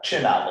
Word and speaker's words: Cinatl: to be well i don't want to well chin novel is the way they actually pronounce the last name okay but we american